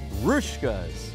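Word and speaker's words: Hruška's: for you evident ly the H on the front is silent and this little Boomerang thing over the S makes a sh sound rkas rouskas so where where should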